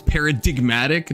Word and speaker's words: paradigmatic: a silent G, but then if you make it an adjective it becomes paradigmatic, not like paradigmatic. So for some reason you just start saying a G that you never said before, which is bizarre.